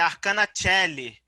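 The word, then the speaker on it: Arcana Coeli: participar viu agradeço mesmo e a pronúncia né é a cana sheli é mas todo mundo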